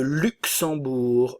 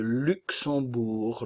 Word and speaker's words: Luxembourg: et lituanien lituanienne le Luxembourg le Luxembourg le G ne se prononce pas ici nous avons la nasale en et le U français tout d'abord le Luxembourg o u le ou